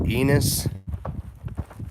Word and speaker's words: Aeneas: ops I saved aeneas you can call me anus if you want I think most people pronounce it eNOS pretty nice in the